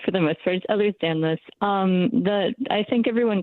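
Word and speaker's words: Ehlers-Danlos: He's living with narcolepsy and also has Ellers's Donlo syndrome. Thanks Nico for calling and and did I pronounce that right and explain what that is?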